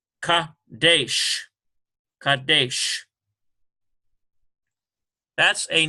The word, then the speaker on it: Kadesh: Here we've got a Kof with an A sound, Ka, and here's a Dalet and a AY sound, it's Saray, Ka, De, ends with a Sheen, Kadesh, K-A-D-E-S-H. Kadesh.